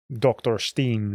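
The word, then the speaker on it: Dr. Stein: Similarly, you can have like music, like I don't know, Dr. Steen from that's the pronunciation of that, from Halloween, and then you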